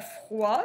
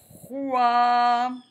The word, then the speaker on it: froid: Et bien, froid, ça va s'écrire comme frais. Sauf que comment on fait le son OA? Avec un O. OI. Froid.